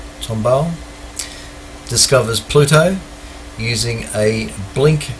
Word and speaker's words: Tombaugh: 18th of february 1930 clyde tombaugh that's how you pronounce his name tomball discovers pluto using a